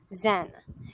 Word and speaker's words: Zen: The first terminology that we are going to discuss is the term Zen. Zen is the way the Chinese word Chen is pronounced in Japan.